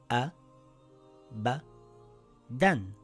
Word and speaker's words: أَبَدًا: So the word reads A, Ba, Dan, Abadan.